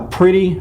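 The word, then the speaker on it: Priddy: carefree cowboys sponsored by pretty fertilizer that's p-r-i-d-d-y by the way i'm not mispronouncing pretty that it was pretty p-r-i-d-d-y uh i wrote the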